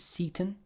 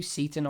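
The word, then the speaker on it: Seyton: Now, some people pronounce it Seaton. That looks to me like Satan, to be honest with you. Seaton, either or. Sounds a lot like Satan.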